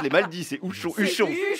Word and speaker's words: Huchon: Huchon. Huchon.